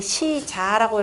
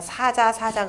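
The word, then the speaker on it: 使者: 보통 근데 시자라고 읽고 요즘에 시자라고 읽는 사람들 없으니까 그냥 사자 그러는데 정확한 시자로 읽어야 되는 겁니다.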